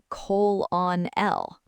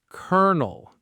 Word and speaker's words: colonel: You might try to say colon on L. But the actual word is colonel. Colonel. It's a military rank. It makes zero sense. None of these letters spell colonel.